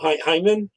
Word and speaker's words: Jaime: I don't say his name right though. Hyman. Is that how you say it? Jaime. Yeah, Jaime. Hyman. HY. He Man.